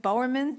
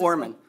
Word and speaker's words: Bowerman: Next speaker is Bowerman. Did I say it right? Did I say your name right? No, but it's close enough. It's hard. It's How is it? Borman. Borman? Pretend the E's not there.